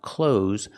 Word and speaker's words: clothes: way Americans pronounce it there is no th sound it is pronounced cloes like close the door I'm wearing clothes the